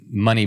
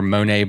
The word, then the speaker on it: Moné: who's not familiar with Money Bikes or Monae bikes or however you want to pronounce it both are correct.